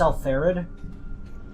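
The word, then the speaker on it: Alpharad: His name is pronounced Alfarid.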